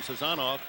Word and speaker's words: Sazanov: I saw you standing next to Alex Sazanov, and that is how he pronounces his last name, Sazanov.